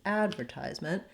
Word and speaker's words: advertisement: help you to remember the american pronunciation being add over ties meant so i'm going to put some length underneath those two syllables advertisement because i'm short and